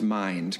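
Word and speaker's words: MINDD: Okay, all right, but it is pronounced Mind, correct? You got it, totally. Okay. Mind with 2 Ds, everybody out there, just in case you're not aware.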